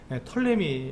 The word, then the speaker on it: 톨레미: 그래서 이렇게 돼서 이 톨레미 왕국은 우리가 그 이집트 역사를 보시면 프톨레미라고 보통 많이들 얘기하는데 톨레미 앞에 피자는 잘 발음하지 않기 때문에 톨레미 왕국에서 이집트 왕국을 말하고 있고요.